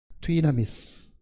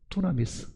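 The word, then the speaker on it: δύναμις: 그러니까 이거는 뒤나미스. 근데 사실은 영어 기호에는 여기 없으니까 쉽게 읽는 사람들은 이거를 뒤나미스 이렇게 안 읽고 투나미스 이렇게 읽지만, 실제 헬라어 발음은 뒤나미스 되어 있습니다.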